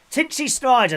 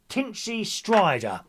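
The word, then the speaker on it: Tinchy Stryder: DJ Tinchy Snider. Thank you, Gary. There's my nephew Gary there. Thank you, DJ. Thank you, Gary. Tin Tin, how do you say it? Tinchy Strider.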